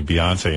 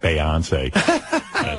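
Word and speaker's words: Beyoncé: that out and then he corrected me told me that Beyonce is really Beyonce not beonce like I didn't know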